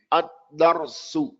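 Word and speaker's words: الدَّرْسُ: Ad-darsu. When you pronounce the dal, don't pronounce the dal without opening your mouth with the fatha.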